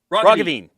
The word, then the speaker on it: Roggeveen: Liberal Party leader John Roggeveen. Roggeveen. Yeah, the second one was a little He gave me closer both pronunciations. yeah. So it's those hard G's.